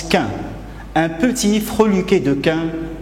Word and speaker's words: quin: Mais un petit chien, en Normandie, on prononce quin, un petit freluquet de quin qui jappe.